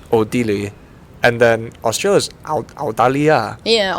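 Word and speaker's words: 奥地利: Odili.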